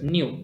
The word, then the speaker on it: nu: by the letter nu so we have to pronounce it as new it's a greek alphabet it's not exactly v suppose if you have